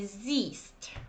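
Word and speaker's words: siehst: So you don't pronounce H and you say zeist.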